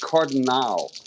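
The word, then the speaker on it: Cardenal: You could pronounce it Cardinal or Cardinal? I pronounce it Cardinal. Cardinal, okay. With that A at the end, that makes more sense. Yeah. Okay. It's not like a Cardinal, not like a St. Louis Cardinal. It's Cardinal.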